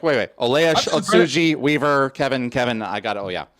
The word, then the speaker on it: Ohtsji: Ohtsji. It's all good. It's like, "Wait, wait. Olejarz. Ohtsji.